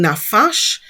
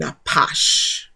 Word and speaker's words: napash: the so for example, instead of saying nafash, you will hear us saying napash.